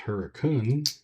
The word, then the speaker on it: Hurricane: It's spelled Hurricane, but it's pronounced Hurricane.